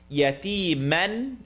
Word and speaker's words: يتيما: Yatiman is now going to be pronounced tongue not touch.